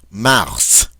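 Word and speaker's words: mars: fav favier favier February mous mous notice we do pronounce that final s March a a which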